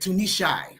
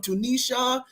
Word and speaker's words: Tunishai: I love the way you say my name, Dr. Derek, Tunishai. I love it. He pronounces every syllable. I love that. Thank you so much. You don't know how many people just murdered my name. I've been called everything from Tunisia to tuna fish to Tunishi.